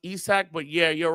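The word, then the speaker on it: Isak: It's definitely pronounced Isaac, but yeah, you're right.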